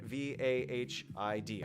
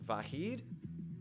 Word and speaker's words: Vahid: V-A-H-I-D. I am assuming that your name is pronounced Vahid. I don't know if it's with the soft H, Vahid, or if it's with a little Vahid, something like that.